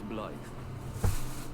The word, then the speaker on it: Blaidd: And that's not how they're pronouncing it, but look, Blaidd. His name is Blade. Okay. I heard about you. Name's Blythe.